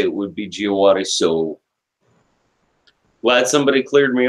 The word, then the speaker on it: Djawadi: want I thought that because he was from Germany that the name would be pronounced javadi but his parentage is actually Turkish so the way you would say it would be jeah water so glad somebody cleared